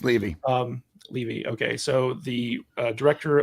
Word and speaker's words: Levy: Levy or Levy, I don't know how to pronounce it. It's Levy.